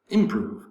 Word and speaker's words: improve: action on number 15 improve improve improve has two syllables prove the second syllable has the accent so it's not improv improve improve improve in american english improve second syllable proof has the